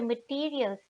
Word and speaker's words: Material: and products using the materials they are made of. One material, the material is das Material. Written like the English material but pronounced in the German way.